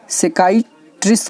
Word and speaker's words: psychiatrist: तो दिमाग का डॉक्टर को हम सेकाइट्रिस्ट कहते हैं, ठीक है। तो ये ध्यान रखें, पी जो होता है ये साइलेंट होता है, सेक्रेटरीस अर्थात दिमाग का डॉक्टर।